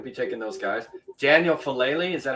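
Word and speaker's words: Faalele: Daniel Falele, is that how you say his name, out of Minnesota? Falele, yeah.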